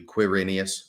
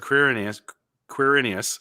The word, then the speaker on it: Quirinius: But I think that the way it's scholars understand it to be pronounced is like Q-U, Quirinius. Yeah, okay. So Quirinius, governor of Syria, Luke 2, 1-2.